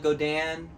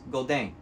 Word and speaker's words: Godin: some people call it Godin some people call it godan godon my research tells me the correct way to pronounce this is golden not going to say